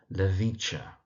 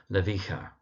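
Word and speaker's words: Lewycka: That's Marina Levicha. You do sometimes find it pronounced Marina Levika.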